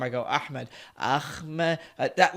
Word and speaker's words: Ahmed: You could pronounce it Ahmedi.